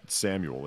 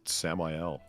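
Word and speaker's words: Samael: zel Z I speak this name really is not Samuel it's samel when you look at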